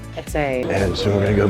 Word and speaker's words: Eze: It's Easy E. We're not really sure how to pronounce it, but we think it's Etze. Etze.